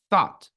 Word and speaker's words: thought: and the expression thought we are not going to pronounce this GH sound we are not going to pronounce it we're just going to say thought well done okay and